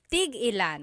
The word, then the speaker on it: tig-ilan: So tig ilan, when there's a hyphen in it, you have to have that glottal stop. Tig ilan. That means how many of each.